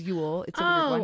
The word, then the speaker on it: Ewell: name it's pronounced my last name is Yule but it's spelled ew definitely yeah right I